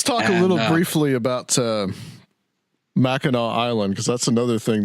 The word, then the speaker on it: Mackinac: looking at it and it looks like it should be pronounced mack and nack because it has a